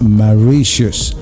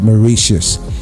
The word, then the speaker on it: Mauritius: the main island is the one known as Mauritius. All right, I like to pronounce it like that. Some people like to call it Mauritius.